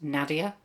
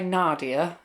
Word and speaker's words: Nadia: I think originally my name was supposed to be pronounced Nadia, but because of where I live in the UK, we're in Norfolk, most of my family say Nadia, and a lot of them spell it with an R too.